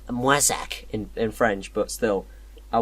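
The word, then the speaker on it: Moissac: to a town called my sac or printer pronounced my sac in French but still I went there and it's Cossack song called Moy suck wait that's like this edgy picture of a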